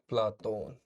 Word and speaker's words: प्लेटो: प्लेटो का एक नाम आपने सुना होगा, प्लाटोन। प्लाटोन या अफलातून। प्लाटोन यूनानी उच्चारण है, अफलातून अरबी उच्चारण है।